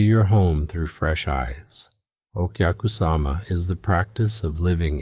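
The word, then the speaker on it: お客様: This is okyakusama, pronounced okyakusama, the guest mindset.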